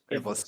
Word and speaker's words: Ivlis: At the Ilvlis, how do you pronounce that? Is it Ivlis? Yeah. Ivlis. Yeah.